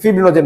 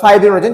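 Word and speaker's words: fibrinogen: ঠিক আছে, ফিব্রিনোজেন বোঝাচ্ছি বা ফাইব্রিনোজেন, যেটা উচ্চারণ করো সমস্যা নেই।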